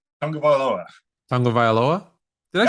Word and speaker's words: Tagovailoa: Tagovailoa?